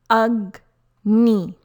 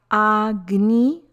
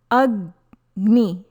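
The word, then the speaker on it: अग्नि: Letter G sounds like G as in guide. It is not Agni or Ajni. Pronunciation is Agni.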